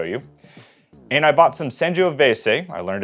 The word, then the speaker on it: Sangiovese: And I bought some Sanjioveves. I learned it's that pronunciation from my good friend Tony.